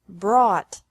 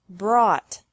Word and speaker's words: brought: Bring, brought, brought, buy, bought, bought. Catch. Caught. Caught. Fight. Fought. Fought. Seek. Sought. Sought. Teach. Taught. Taught. Think. Thought. Thought. Remember that the G is silent in these verbs.